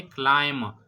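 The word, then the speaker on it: climb: य क्लाइम जो है इसको हम प्रोनाउंस कैसे करेंगे क्लाइम इसमें बी जो है य साइलेंट है जब भी कोई वर्ड बी पर खत्म होता है और बी से पहले एम आया हो तो उसमें व बी जो है वह साइलेंट होता है ठीक है जिस तरह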